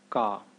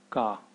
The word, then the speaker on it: ക: in the series is car car it's exactly the same as how uh it's pronounced in keep the C Sound in keep it's the C okay